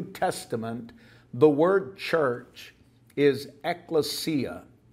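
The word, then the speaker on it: ἐκκλησία: of the New Testament the word church is eklesia eklesia it's spelled ECC and occasionally you'll see it spelled ekk but ECC l s i a eklesia is how it is pronounced and it's translated in English Bibles as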